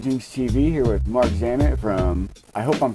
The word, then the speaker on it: Marc Zammit: get wrong about you said it correctly it's Mark zamit all right from Pandora you guys I met